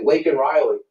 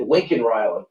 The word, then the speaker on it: Laken Riley: He said Laken Riley, and he said Lincoln Riley.